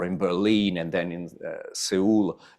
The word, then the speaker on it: Seoul: Berlin, and then in Seoul, or Seoul, if you want to pronounce it correctly.